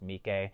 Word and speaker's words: Miike: And I know that his name is pronounced Mike, but I used to